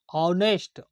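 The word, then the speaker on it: honest: होता है ईमानदार नेस्ट ऑनेस्ट ऑनेस्ट ओ का उच्चारण आता है इसमें एन लगता है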